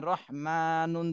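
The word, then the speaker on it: رحمان: মিম খারা জবর মা রহমানুন দুই পেশ নুন রহমানুন তাহলে এখানে উচ্চারণ করার সময় বলতে হবে রহমান রহমান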